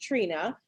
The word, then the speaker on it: Trina: her name is is it's it's pronounced it's pronounced trina but it's spelled t-r-i-n-a uh nelson n-e-l-s-o-n i